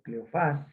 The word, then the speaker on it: Cleofás: Uno de ellos, llamado Cleofas o Cleofás, dice que se acentúa en la A, pero que no se pronuncia el acento.